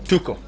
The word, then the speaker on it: Tuchel: So is it Tuchel or Tuchel? Tuchel. The pronunciation is Tuchel. Okay. But of course for people like you that is it Spanish, is it English, German, is it Latino? it's German. That is German.